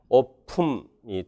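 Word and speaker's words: open: 오픈, 요건 실제 발음을 생각을 하라고 했고요. 이 P의 영향을 봐서 이 N 소리가요, 같은 바이레비얼 음이 됩니다. 그래서 실라빅이 돼서요, 오품이 됩니다. 그래서 요거 찾아내는 게 어려울 거예요. 그래서 여러분들이 좀 외워주세요. 오픈이 오품 이렇게 소리가 날 수가 있다.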